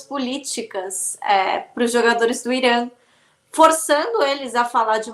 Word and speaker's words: Irã: o jornalista falou, primeiramente, você está pronunciando o nome do meu país errado, não é Irã, é Irã.